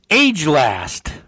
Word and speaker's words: agelast: The next word is age last. It's spelled age last, but it's probably agelast.